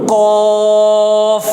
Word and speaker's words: ق: কুল কুল কুল কুল কুল কুল قل قل قاف قاف قاف قاف আবার বলেন قاف قاف قاف